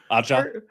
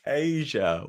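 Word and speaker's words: A'ja: Aja? Her name is not Aja. Ajita. Right? That's the Italian Ajita, like heartburn? It's Asia Wilson. No, Asia spelled A-S-I-A.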